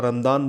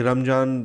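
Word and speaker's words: رمضان: यहाँ का वर्ड है, वहाँ रमदान बोलते हैं। अब यहाँ के लोग भी वो कॉपी करने लगे जब से ऑब्वियसली इनको कुछ चीज़ें पता चली हैं कि रमज़ान मतलब प्रोनाउंसिएशन का है, वहाँ पे जा नहीं है, डी बोलते हैं वहाँ पे।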